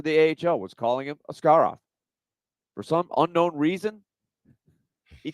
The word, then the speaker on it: Askarov: Russian pronunciation it is a scar off that is where the emphasis is on the second syllable a scar off a scar off made